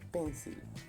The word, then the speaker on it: pencil: Comúnmente nosotros, y nos han dicho incluso que es pencil. No. Resulta que la sílaba que se pronuncia enfatizada es pen. Esto hace que la siguiente sílaba se pierda la vocal y se debilite.